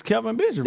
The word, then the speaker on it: Kelvin Benjamin: different weapons they got, Kelvin Benjamin, Olsen. Kelvin? Is Did Benjamin you say really Kevin? that good? It's Kelvin Benjamin. It's Kelvin. I thought you said Kevin. Okay, no, Kelvin.